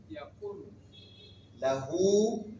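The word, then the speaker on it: يَكُن لَّهُ: Ahad ahadam problem cou vous allez voir que je ne prononce pas le N pourtant c'est bien écrit oui mais je ne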